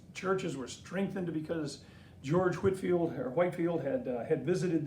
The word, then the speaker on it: Whitefield: a little boy but I learned to say Whitfield and I think that printer about proper pronunciation is Whitefield but nevertheless Benjamin Franklin